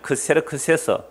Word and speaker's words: 크세르크세스: 위키백과에 의하면 크세르크세스 뭐라고요? 아하수에로. 아하수에로 무슨 발음이고요? 히브리식 발음이고 크세르크세스는 헬라식 발음이에요.